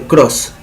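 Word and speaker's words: Krause: Cuando el triángulo de Greenfeld se transforma en un cuadrado, se llama cuadrilátero de Cross. Cross se escribe K-R-A-U-S-E.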